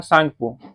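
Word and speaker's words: Tsangpo: इसका नाम होता है सांगपो। ठीक है? ऐसे इंग्लिश में इसलिए लिखा रहेगा टी सांगपो। तो जिसमें से टी साइलेंट रहता है तो सांगपो पढ़ा जाता है।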